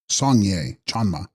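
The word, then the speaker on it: སངས་རྒྱས་སྤྱན་མ: Text: Sangyas Spyan Ma, pronounced Sangye Chanma, she of the Buddha eye, or eyes.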